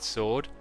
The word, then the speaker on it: sword: the w's of somebody edgy uh i don't pronounce the w i've always said sword and even when i listened to their music